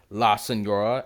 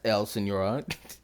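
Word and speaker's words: La Signora: And also, yes, I know that I mispronounced La Senora as El Senora.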